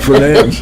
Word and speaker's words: Fernandes: Fernandes, I almost said the D word again. Fernandes.